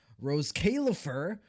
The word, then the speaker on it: Roscaelifer: They were peak fiction last night and we are going to continue that momentum into today because we have Rose Kaifur as you properly pronounce it because I actually went and